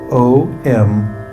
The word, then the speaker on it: Om: This mantra is spelled O-M, Om.